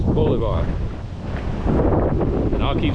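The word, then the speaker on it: Bolívar: Anyway, I know enough to know that's not pronounced Boliver. It's Boulevard.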